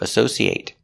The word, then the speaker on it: associate: That's a verb, associate. Now, what if it's not a verb? Associate. It, making that short sound at the end, it. Associate. Associate is not a verb.